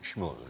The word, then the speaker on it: Shmuel: One is Golo, the other is Paul Dahl, the commandant, and then the other is, I'm not sure how to pronounce his name, Shmuel? Shmuel, yeah.